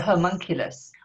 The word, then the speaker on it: homunculus: This how do you pronounce the Oimalculus? homunculus, homunculus.